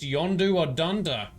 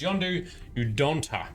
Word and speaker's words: Yondu Udonta: Quill agreed to testify against Yondu Udonta. Ooh. I pronounced that wrong, but it's Yondu Udonta.